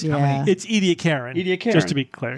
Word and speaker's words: Ediacaran: Oh gosh, but it's Ediacaran. Ediacaran. Just to be clear. Yeah, Ediacaran. What did we say? Ediacaran. Ediacarian. We added an I after that.